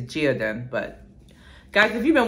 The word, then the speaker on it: Geodon: The last one, it's not Gideon. I think it's Geodin. But guys, if you've been watching my videos by now, you know I can't pronounce. So it's something. Geodin, Geodon.